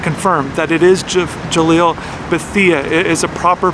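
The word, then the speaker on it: Bethea: just want to confirm that it is Jalil Betha is a proper pronunciation of his last name so I'm going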